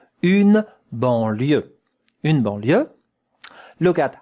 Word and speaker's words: banlieue: Here we have a nasal vowel. En. Banlieue. That one is E. Banlieue. And that here is ya. Ya. The sound ya.